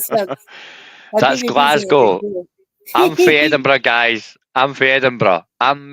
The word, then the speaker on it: Edinburgh: like I come from Edinburgh. You know, Edinburgh, guys. Edinburgh. I don't even know how to pronounce that. Edinburgh. Bur. No. Burrow. Bor. Burrow is England. Burough is Scotland.